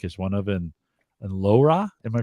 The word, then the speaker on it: LoRa: of yo link is one of them and lora am i pronouncing that right yeah laura yeah so so laura is a technology it's